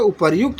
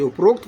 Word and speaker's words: उपर्युक्त: उपर्युक्त होना चाहिए। उपरोक्त कोई है ना?